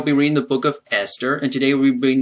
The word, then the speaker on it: Esther: I thought it's pronounced esler but it's really pronounced Esther I did not know the H was silent okay but anyway um